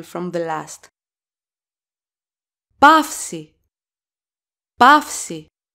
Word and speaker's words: παύση: Pafsi. Pafsi. That's a vowel combination, alpha and ypsilon. The accent goes always on the second vowel of the vowel combination, so it goes on ypsilon.